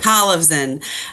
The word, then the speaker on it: Kolevzon: I keep saying your name wrong. I'm sorry I asked to Civan like Collivan.